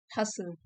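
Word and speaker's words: hustle: Side हसल T silent है।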